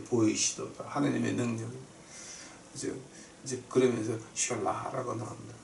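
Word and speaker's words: Selah: 하나님의 능력이 이제 그러면서 샬라라고 나옵니다. 근데 샬라 그 영어로는 실라라고 읽어요. 근데 히브리 말로는 샬라라고 읽는데 그 샬라라고 하는 말이 뭐냐게 되면은 너희는 입 닥치고 앉아서 다음 하나님 명령 내릴 때까지 기다려라.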